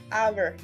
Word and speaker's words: hour: Como el ejemplo, les he dado la palabra hour, la hora en español.